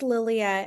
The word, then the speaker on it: Lilia: So is it Lilia? Sorry, I'm mispronouncing your name, but can That's you okay. Yeah, it's Lilia.